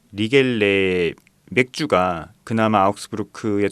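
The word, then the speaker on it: Riegele: 그런데 이제 유일하게 리겔, 정확한 발음은 리겔레거든요. 리겔레 맥주가 그나마 아우크스부르크의 좀 자존심을 이어가는 그런 양조장이라고 할 수 있죠.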